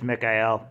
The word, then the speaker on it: Mikael: Yeah, that's probably what Michael is, or Mikael, whatever name they're going for. I hope it's Mikael. It's actually, like, the proper way to say it, I believe.